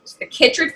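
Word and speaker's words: chytrid: want to make sure I say it right Kittridge fungus but formally kicked radio mycosis and it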